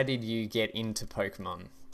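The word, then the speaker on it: Pokémon: did you get into Pokemon or Pokemon I say with a silent e say hey Pokemon I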